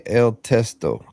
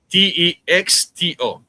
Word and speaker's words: texto: Le testo. Testo. Testo. Testo is text. So le t e x t o.